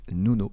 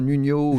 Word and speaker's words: Nuno: vais le redire donc mon prénom il se prononce Nouno voilà retenez bien voilà donc tous les gens qui vous disent je connais super bien Nuno Nino fake c'est fini c'est fini